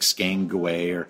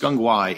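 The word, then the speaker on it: SGang Gwaay: It's like Skangway, but it's pronounced Skungwai, and it's the location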